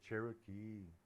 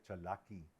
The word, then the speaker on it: Cherokee: Dice, pero no se dice Cherokee. En México se dice Chalaki.